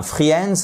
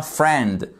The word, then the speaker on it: friend: c'est celuici friend et c'est pas un Fri au passage c'est un friend le là vous le prononcez pas et celui-ci c'est un